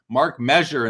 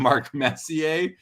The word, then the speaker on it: Messier: Carl Daly says, I think my biggest mispronunciation was Mark Measure instead of Mark Messier.